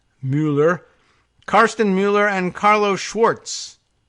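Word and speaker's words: Müller: claims to prove it Carsten Muller or probably Muller and we have that pronunciation problem here in the United States but this is a M you with the umlaut ll er Mueller Carsten Mueller and Carlos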